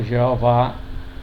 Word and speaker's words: Jeová: A pronúncia correta do nome divino, Jeová, é a pronúncia mais conhecida do nome divino em português,